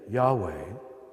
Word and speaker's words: Yahweh: of the sacred name Yahweh are in fact the only consonants that if correctly pronounced do not allow you to use your tongue or close your lips in fact we know